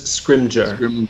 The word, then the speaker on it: Scrimgeour: I think it's pronounced Rufus Scrimgeour. Scrimgeour, yes. Scrimgeour. Scrimgeour. I give you an A on the pronunciation. So. Or Scrimgeour. He was definitely Scrimdour in that movie.